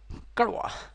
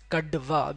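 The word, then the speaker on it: कड़वा: Karwa, right? So it's karwa, karwa, karwa. Right, don't pronounce like kadva because this may looks like a D sound.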